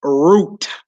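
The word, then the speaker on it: רות: You would say root. Root. Like your roots.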